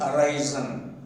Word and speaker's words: arise: See, arise, arose, arisen. Here, in the word arise, the second syllable is stressed. That is why arise.